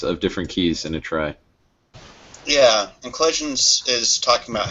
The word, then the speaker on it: trie: an attempt to distinguish it verbally from tree but it sounds exactly the same the phonetic spelling is one letter different yeah yeah I'm just being sarcastic I guess to try okay some people pronounce it try I'm gonna pronounce it